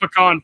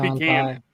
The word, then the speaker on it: pecan: It ain't pecan. It is not pecan. It is not pecan. It's pecan. Shit. Pecan. Sorry. It's a pecan pie. I don't know what else to tell you. Like, again, so it's gonna depend on where you were raised and all that kind of stuff, man.